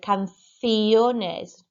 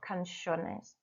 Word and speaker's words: canciones: And number 6, I should have said canciones, not canciones.